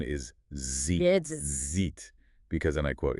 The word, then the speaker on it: ZJIT: Yes, preferred pronunciation is zit because and I quote it sounds more like zed.